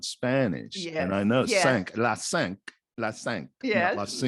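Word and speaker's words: cinq: isn't it though but they don't say senko they say sanc it's not senko in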